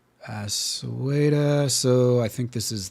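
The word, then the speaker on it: Sweida: It's Sweda.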